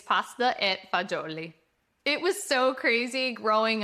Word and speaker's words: pasta e fagioli: This is a great one because Italian Americans always know pasta fazool, but Italians won't recognize the fazool. It's pasta e fagioli.